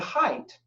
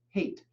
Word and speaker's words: Haidt: of moral psychology but height or sometimes I see his name or hear his name pronounced hate it's h AI ght but height argued in